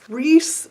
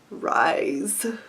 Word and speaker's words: Rhys: reading it, I was mentally fighting with my instinct to pronounce his name Rise.